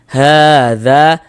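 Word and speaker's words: هٰذَا: Nah, kemudian hadza, ha dibaca panjang.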